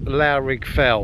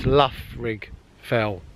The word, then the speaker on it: Loughrigg Fell: It's very similar to, now I've been saying Loughrigg Fell, and it's not, according to Sam, it's Loughrigg Fell. Unless I got that wrong as well.